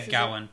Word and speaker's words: Gawyn: more now that these people are Elayne and Gawyn. Yeah. And That's how I pronounce it, right? Yeah, Gawyn, yeah.